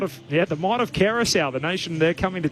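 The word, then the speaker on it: Curaçao: That actually is pronounced Kerous, but it is.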